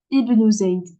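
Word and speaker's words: ابن زيد: Et ici, par exemple, ici, dans cet exemple-là, le elif, il débute la phrase. Ce qui dit débute la phrase, c'est que je le prononce. Donc là, il y a une kasra, je vais dire Ibn Zayd.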